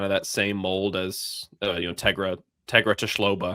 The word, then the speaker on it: Tegra Tshabola: To me, he's kind of that same mold as Tegra Tshloba, I believe was how you pronounce it, from Ohio State. Unless I just completely butchered that. No, you got it. Tegra Tshabola. Yeah, Tshabola, close enough.